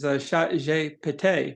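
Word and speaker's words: ChatGPT: You know, I don't know if people know this, but Chat GPT, the way it's pronounced in French is chat j'ai pété, which means cat, I farted.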